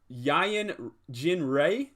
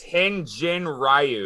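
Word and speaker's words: Hyun-jin Ryu: uh for toronto going i'm gonna butcher his name is it uh yayan gin ray is that how you say it we got a couple of tough pictures here it's hen jin ryu there you go i was i was not even close so there we go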